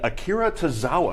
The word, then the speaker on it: Akira Tozawa: Neville and Akira Tozawa. Did I pronounce that right?